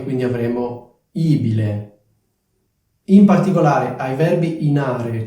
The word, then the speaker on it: ibile: la cosa importante è Ricordarsi che la vocale è accentata quindi è abile ibile come dicevo questo suffisso